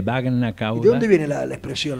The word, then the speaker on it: bagna cauda: Baña cauda, que se escribe con G, Bagna cauda.